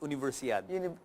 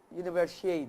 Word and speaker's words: Universiade: Universiad. Universiade.